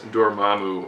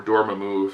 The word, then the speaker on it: Dormammu: the bunch thankfully is Dormammu or Dorma move you're one of the people that pronounce it like that he's not a hundred